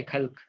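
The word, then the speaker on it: خلق: एक को बोलते हैं खल्क, ठीक है? हल्क नहीं रे, खल्क।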